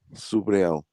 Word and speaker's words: Subriel: Subriel. Oh, Subriel Matias.